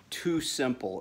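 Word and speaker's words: TuSimple: i looked at his company called too simple and it's spelled tu simple and they're based out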